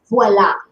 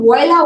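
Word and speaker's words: voilà: Second of all, it's a French word. It's pronounced voila. If you're going to use a word from another language, say it the way it's supposed to be said in that language.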